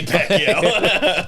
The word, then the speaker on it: Pacquiao: I think you're spelling it wrong. Or you're pronouncing it wrong. Pacquiao. You said Pacquiao. That's Manny Pacquiao.